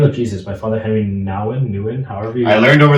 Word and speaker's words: Nouwen: In the Name of Jesus by Father Henry Nouwen, however you... I learned over the weekend that it's pronounced Nouwen. Okay, Father Henry Nouwen has a great book called In the Name of Jesus.